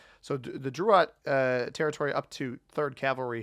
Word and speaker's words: Drouot: there is pathing from Drouot or Drouot. I know Sam, viewer of the channel, said that it could potentially be pronounced either way and that Old French likely pronounces the T.